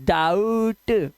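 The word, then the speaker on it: doubt: आउ शक्ति कपूर आउ जैसे डाउट ओ यू आया ना तो आउ की आवाज डाउट और इसका बी साइलेंट होता है।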